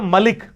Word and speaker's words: ملک: آپ اپنے جو ملک صاحب ہی کہہ رہے ہوتے ہیں نا, ملک صاحب, حالانکہ لفظ ہے ملک.